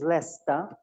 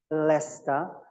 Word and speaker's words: Leicester: Pronunciation is Leicester, Leicester.